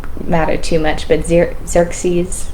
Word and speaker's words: Xerxes: Doesn't matter too much, but Zer Xerxes, Xerxes, Xeris.